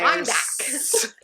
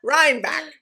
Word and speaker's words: Reinbeck: Ry what do you how do you say it? Reinbeck. Reinbeck sweat. Is that what I said? Ryback. Rhybeck. What? Say it again. Reinbeck. Rhybeck.